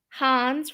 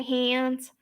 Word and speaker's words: Hans: was it fresh ice hans rhymes with john's i know sometimes i say hans sometimes i say hands it's my new york accent hans like from um